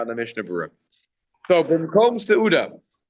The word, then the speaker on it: bimkom: side point here that the pronunciation, if you're in the yeshiva world, is not Ein Kiddush ela bimkom seuda, even though that's the correct nikud. It's that everyone will always pronounce it as Ein Kiddush ela b'makom seuda. So bimkom, b'makom, okay.